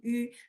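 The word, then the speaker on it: ü: Okay, there is special sound in Chinese which is yu, and you can say e first, then keep your tone where it is and round your lips to pronounce yu.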